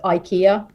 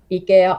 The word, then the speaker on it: IKEA: are all fine it's like same like with ikea ikea ikea or whatever but it is actually a finnish